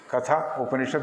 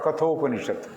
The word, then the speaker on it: Katha Upanishad: Katha Upanishad because it has a story about Nachiketa and Yama. So it is Katha Upanishad or Katho Upanishad, if you want to put the Sandhi there.